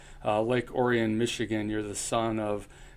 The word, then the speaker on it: Orion: See, to be in Michigan and to understand that it's not pronounced Orion is a key skill that I possess. Lake Orion, Michigan, you're the son of Colin and Dawn.